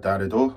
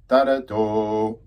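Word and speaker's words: darodo: Okay, so the Darido, if you say the word Darido, we have three syllables contained within that word. Darido, one, two, three, Darido.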